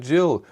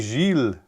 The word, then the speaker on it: Gilles: People wondering who's that Jill? No, nobody cares. Who's that guy you're talking about? I'm not that. I'm someone different. You or do I say it wrong? I should be Gilles.